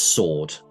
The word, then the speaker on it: sword: And for you, It's pronounced sword. The W is silent.